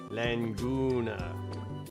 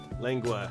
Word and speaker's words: lengua: Laguna. I was saying it wrong. Langu. Yeah, there's no Languner. That's where Father Elmo was going with that, I think. Because it's lengua is the tongue.